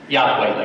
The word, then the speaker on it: Yahweh: I believe that form from historical and archaeological evidence is the closest that comes to pronunciation of the sacred name of Yahweh is phonetically pronounced Yahweh, like we say it.